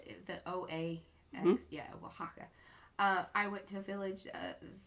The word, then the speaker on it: Oaxaca: Yeah, Oaxaca.